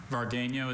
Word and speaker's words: vargueño: Vargueño is the only pronunciation.